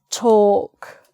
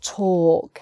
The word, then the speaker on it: talk: But talk, it's a sort of or sound, which is not suggested by the spelling at all, so you have to learn this.